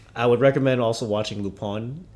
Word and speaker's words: Lupin: But going back to it, I would recommend also watching Lupon. It's spelled L U P I N.